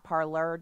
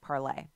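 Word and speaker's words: Parler: AR le our home parlor com I'm pronouncing it that way so you can know how to spell it but the pronunciation of correct fantasy parlez they have a commenting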